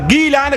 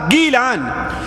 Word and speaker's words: گیلان: وجہ یہ ہے کہ اصل میں اس کا تلفظ گیلان گاف کے ساتھ ہے۔ اس کا تلفظ کس کے ساتھ ہے؟ گاف کے ساتھ، گیلان۔ اور ظاہر بات عربی